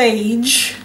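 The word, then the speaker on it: Fage: Yeah, I would Savannah, pronounce it Phage, but it could be pronounced differently. Spelled F-A-G-E.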